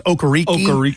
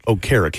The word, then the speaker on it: Okereke: And everybody thought it was Okereke when he came out. And, of course, he's one of these really nice fellows. It's like, no, it's really Okereke. It's like, oh, man, dude, I would have pronounced it correctly.